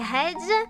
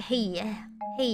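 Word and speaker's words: hej: Jus okay yeah so all J's I pronounced as wise that's why hedge is actually like hey hey yeah hey hey yeah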